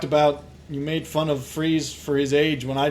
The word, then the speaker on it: Fries: it just said laura freeze that's his wife his name is he's german we talked about this that's how you pronounce freeze in german is that is spelled